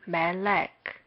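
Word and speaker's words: מֶלֶךְ: Mem, lamed, kap. Kap is generally used in this way, but when it comes at the end of a word, it is written like this. The first vowel is shegel, and the second vowel is also shegel. Here we mark mem with m and shegel with e, lamed with l, shegel with e, and lastly kap with k. We read this as melek.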